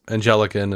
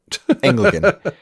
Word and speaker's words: Anglican: Uh but I don't know like I know he was raised as angelican and whatever you know I don't right Anglican. How do you say that? Anglican.